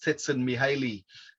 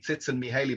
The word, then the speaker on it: Csikszentmihalyi: So I used to call it Mihaly Csikszentmihalyi, but I found out how his name was actually pronounced. So I'm trying to show off there with pronouncing it the way the Hungarians do.